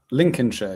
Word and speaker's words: Lincolnshire: Lincolnshire is how you pronounce that by the way.